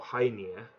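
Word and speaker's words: Hœnir: to the Aesir and who near or high near as it's pronounced actually and Mamiya went to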